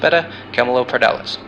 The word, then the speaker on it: Beta Camelopardalis: Cabelopardalis' brightest star is pronounced Beta Camelopardalis.